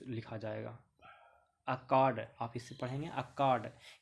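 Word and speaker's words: Akkad: देखिए अक्काड, ये जो है ना लिखा हुआ, ये एक्चुअली में इस तरीके से प्रोनाउंस लिखा जाएगा, अक्काड, आप इससे पढ़ेंगे।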